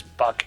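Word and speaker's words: Buch: That's why I'm pronouncing it Buck, because that sounds like a very either South African or German name to me.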